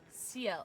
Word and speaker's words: Ciel: Ciel? Ciel.